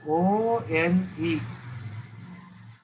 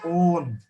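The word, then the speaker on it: -one: So O-N-E. You should pronounce it as own, not one. It is own.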